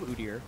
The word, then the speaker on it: Udyr: uder pick though and I'm not going to change my pronunciation of uder as many people that will tweet me elsewhere I think it's the way you should say it uh but it's a